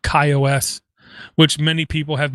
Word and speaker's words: KaiOS: ago i talked about a operating system called kaios which many people have mispronounced many people with agendas have mispronounced it's called kaios um it's a full linux based operating system